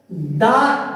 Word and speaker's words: the: लोगों के मन में एक क्वेश्चन आता है प्रोनाउंसिएशन से रिलेटेड। कुछ लोग सोचते हैं कि सर दा टी एच ई दा, इसको कहीं कहीं दा